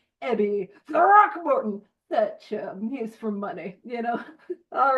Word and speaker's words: Throckmorton: Throckmorton. I'll put my Evie Thatcher little design that I got in the chat in a little bit. That is the correct pronunciation, Ebby Throckmorton.